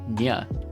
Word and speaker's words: nguh: is supposed to be pronounced with the final sound of Ing and uh smashed together it is not phonetically